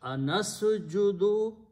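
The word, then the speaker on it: أنسجد: Now, we are going to put a letter alif in the beginning with a hamza and a fatha, a. And this letter in the beginning of a verb brings a question mark. So, the word becomes an asjudu.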